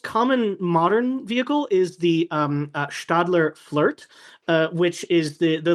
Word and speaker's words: Stadler: S T A D L E R, but it's a Swiss-German company and so when the S is followed by a consonant, it's a sh sound.